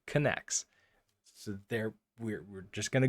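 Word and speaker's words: Knex: the readme it says this is pronounced connects so there we're just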